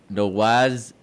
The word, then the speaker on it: Nawaz: No, It's pretend Nawaz. the W's a V. Nawaz. Oh, it's Nawaz.